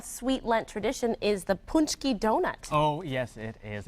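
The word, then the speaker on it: pączki: Paczki. Paczki. I can do like that. a punch. Like a punch and skiing at the same time.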